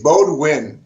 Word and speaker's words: Baudhuin: It's Baudhuin, but I mean, Baudhuin. one of my nicknames is Buddha because nobody can pronounce it, and that came from the Marine Corps.